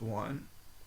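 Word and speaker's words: eau: um so this next one is E auau just like the example that's a word in itself and it's pronounced o like o de toet toet toet o de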